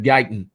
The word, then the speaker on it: Guyton: Is Guyton or Guton? He's the offensive tackle out of Oklahoma. I think it's Guyton.